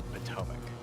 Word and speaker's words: Potomac: Just so you know, it's Potomac. Even when I said it, I knew I was saying it wrong.